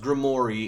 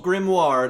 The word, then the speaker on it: Grimoire: Also, I know what you're thinking, but no, his name is pronounced Grimory in the show, not Grimoire like you'd think.